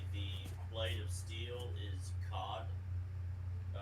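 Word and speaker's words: kad: If you want to say the blade of steel is cod, spelled K-A-D, but you pronounce it with an H between the A and D. So it's not cad, it's cod.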